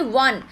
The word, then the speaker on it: one: यहाँ पे देखिए 1, तो ये ओ तो कहने को वावल है, लेकिन इसका प्रोनाउंसिएशन कैसा है, ऐसा 1, यानी कि ऐसा वाला W वाला प्रोनाउंसिएशन है।